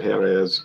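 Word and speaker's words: Jerez: brandy of looks like jiarez spain but they pronounce it here is but jirez um the competitor is the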